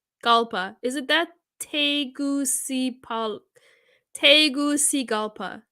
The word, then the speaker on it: Tegucigalpa: the capital of city of Honduras it is pronounced is it that teguci Polk Tegucigalpa Tegucigalpa yeah okay thanks thanks amitaba I learned something